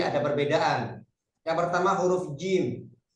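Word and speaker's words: جيم: Yang pertama huruf jim. Jim ini tengah-tengah lidah nempel, ya, nempel langit-langit atas. Kalau diucapkan jim. Kalau berharokat fathah ja, ja, ya, tengah-tengah lidah, bukan ujung lidah.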